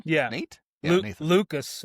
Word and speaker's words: Lukes: Lucas. It's Lucas. Lucas. That's right. I know it's Lucas. It's spelled Lukes. It's Lucas.